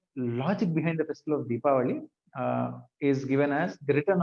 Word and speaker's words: Deepavali: Diwali is not wrong. However, it is derived from this Sanskrit word Deepavali.